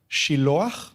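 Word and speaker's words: Shiloach: En hebreo se pronuncia Shilo y ahí Juan, entre paréntesis explica que el nombre de ese estanque tiene un significado y el significado es enviado.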